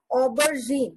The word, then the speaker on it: aubergine: We pronounce it as aubergine.